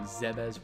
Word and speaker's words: Zebes: planet of zebes zebes i called it zeb's for so many years but of course like so many other things metroid other m had to ruin it had to ruin my childhood pronunciation of the name i guess it's not exactly true because super smash brothers brawl had uh a musical track where there's a monologue in it and the pronunciation zebes was first used there but whatever so